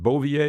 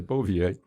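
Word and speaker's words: Bouvier: his last name was is it beauvier is that's where you pronounce it okay bovier and they had a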